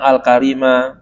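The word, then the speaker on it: الكريم: ya uhu kata pengarang alkarim ya lafaz alkim Allah yang maha pemurah bacanya bagaimana i dibaca dengan fathah Kaf ya Alal Mashuri menurut pendapat yang Mashur jadi ka ya waju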